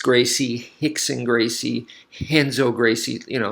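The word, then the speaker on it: Rickson: beginning of a word it becomes an H so his second R in cardo that R is an R like a normal R but the the first one becomes he so that's why I'm pronouncing is named that way in case you're wondering so just like hoist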